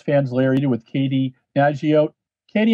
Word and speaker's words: Nageotte: larry eddie with katie naji out katie am i pronouncing your last name correctly it close it's najjat she's a nike sponsor